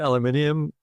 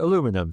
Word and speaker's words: aluminium: We call it aluminium. Uh other side of the Pacific calls it aluminum.